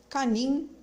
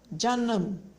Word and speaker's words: canım: A letra C, que no caso em turco é C, ela tem esse som de já, ji, jo, ju. Então, a pronúncia é já, canım, ok?